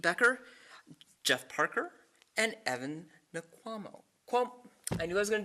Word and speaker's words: Nkwamo: The three that are joining me today are Pete Becker, Jeff Parker, and Evan Nkwamo. I knew I was going to do this. Evans Wankwa. N is silent.